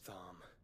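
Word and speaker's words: Tharmr: Barnabas Thm. Not going to lie, Thm is not how I would pronounce that.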